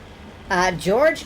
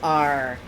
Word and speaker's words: Jorge: George? No, Jorge. George. I recognize that the difference in pronunciation is minute. But there is a developer test map where they explicitly spell this out. Jorge. Jorg. You have to roll it around in the back of your throat and then choke to death on it.